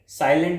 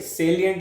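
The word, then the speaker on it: salient: साइलेंट नहीं लिखा ये सेलियंट लिखा है।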